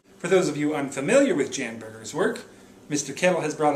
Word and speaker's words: Bjorn Bjorgen: It is pronounced Bjorn Bjorgen.